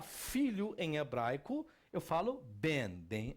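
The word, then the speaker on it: בן: Qual a pronúncia que eu tenho aqui? Ben.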